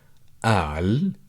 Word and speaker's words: قال: like to highlight that the verb al which you could pronounce it either the letter cough as in the glottal stop so you could say